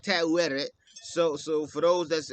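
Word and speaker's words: Taweret: uh the fertile British goddess kind of like tattooed so so for those that's uh um in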